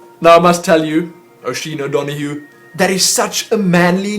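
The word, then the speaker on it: Oisín O'Donoghue: That's Oisin O'Donoghue. That is one name that I do know how to pronounce.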